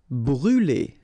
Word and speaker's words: brûler: Brûler. All right, so remember to write this circumflex on the top of U, but then you don't pronounce it, so phonetically it doesn't exist, and it's brûler.